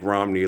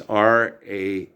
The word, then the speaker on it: Ramani: It's not like Romney, like the stadium in Logan, Utah, the Romney family of Mitt Romney and all that. She's from India. Okay, namaste. It's Ramani, Ramani. Okay, and that's how it's spelled, like Ramadan, Ramani.